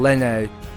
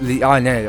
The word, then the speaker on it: Liane: I'm saying Lene. Line. I'm not sure if I'm saying it correctly, or is it Liane? It's Liane. Okay, well, you know what?